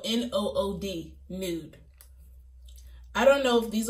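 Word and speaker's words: Nood: The first gloss is called Nude. It's Nude. It's spelled N-O-O-D, Nude.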